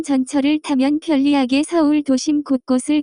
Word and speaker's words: 곳곳: 곳곳, Here and there, everywhere. The pronunciation of this word is closer to. 곳곳, Common usages: 방방곳곳.